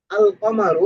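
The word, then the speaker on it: القمر: আল কমারু এখানে লাম উচ্চারণ হচ্ছে।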